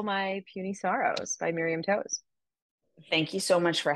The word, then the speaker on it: Toews: because I found this out her name is pronounced Taves what uh-huh t-o-e-w-s is Taves yeah I um so you know I don't